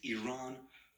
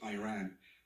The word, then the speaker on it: Iran: the Iranian people but you're pronouncing our country's name wrong our country is named Iran not Iran please once and for all let's get this clear my apologies on uh